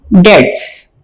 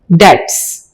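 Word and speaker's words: debts: डेट्स, यहां पर B silent है, आपने इसको कैसे प्रोनाउंस करना है? डेट्स।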